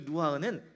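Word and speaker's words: רוח: 루아흐. 루아흐. 근데이 흐라는 발음을이 히브리어는 그냥 흐가 아니라 단전에서부터 끌어올려서 이렇게 하셔야 돼요.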